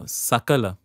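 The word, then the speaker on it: सकल: happen uh you know dangers of pronouncing something uh wrongly uh sakala is everything shakala is a fragment H so there are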